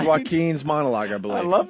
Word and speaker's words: Joaquin: Oh, Joaquin. Anybody with a silent J in the beginning of their name Joaquin.